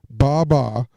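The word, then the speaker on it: 八八: 88 is pronounced in Chinese Mandarin language as ba-ba, ba-ba to be precise, simulating the sound of the English language, bye-bye.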